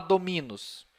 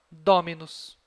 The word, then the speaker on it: dominus: Eu não vou falar dominus. Tá? Como a penúltima sílaba tem bráquia, a tônica é a que está antes. Então, dominus.